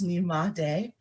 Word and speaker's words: Nyemade: When you first see it, it looks a little intimidating, but it's just three syllables, Nyemade.